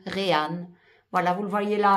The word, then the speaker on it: Reyhan: Euh ah ben voilà, ça s'écrit comme ceci. R E Y H A N Ran.